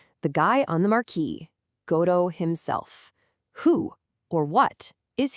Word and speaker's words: Godot: it pronounced Godot, with the emphasis right on that first syllable. And that immediately makes you think they're waiting for, well, God, right? But Samuel Beckett, who wrote the play in French first, he pronounced it Godot, stressing the end.